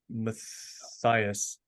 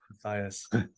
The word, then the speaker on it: Matthias: yep one last time how do you say last name um Matthias oh my gosh you got it right unbelievable Matthias we gotta we gotta